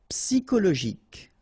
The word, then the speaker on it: psychologique: And then it's an exception here because normally we should pronounce it sho, okay, but then we pronounce it ko. Psychologique.